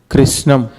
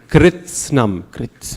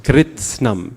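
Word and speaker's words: कृत्स्नम्: Krishnam. Okay, so you're missing the T. Huh? Kritsnam. Kritsnam. The T, every letter has to be pronounced.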